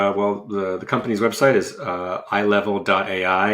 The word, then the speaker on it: Eyelevel: Well, the company's website is Eyelevel.ai, and Eyelevel is like your eyeballs, so it's EYE level.